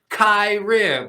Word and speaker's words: Kyirrim: yeah, but I have to write in parentheses like it's pronounced Kyrim because I've had people on stage be like Kyrie.